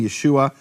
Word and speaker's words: Yeshua: of nun meaning there's no question from any serious scholarship about how to pronounce that name Yeshua no question whatsoever it's and this is